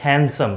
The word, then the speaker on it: handsome: जैसे यह वर्ड है हैंडसम पहले यह मैं आपको बता दूं कि इस मिट्टी साइलेंट होता यह हैंडसम नहीं होता